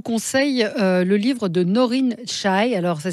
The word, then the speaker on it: Chai: Moi, je vous conseille le livre de Noreen Chai. Alors, ça s'écrit C-H-A-I.